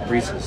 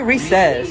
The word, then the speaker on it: Reese's: say recess or re-seize Reese's I say Reese I say Reese's reasons yeah I say something in between yeah I say recess it rhymes with pieces oh yes pieces yes